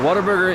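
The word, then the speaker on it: Whataburger: that airport uh waterburger is a actually it's spelled what a burger but it's if you say it with a Texas draw it's sounds like waterburger it is a Texas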